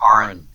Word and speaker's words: Aaron: So, Aaron, welcome to the show, brother. It's pronounced Aaron. Aaron? Yes, sir. I'm sorry. That's all right, everybody gets it wrong.